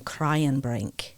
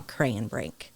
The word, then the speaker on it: Kraayenbrink: well and and uh they pronounced my last name cryan Brink so they changed it to cray and Brink easier to say just to make it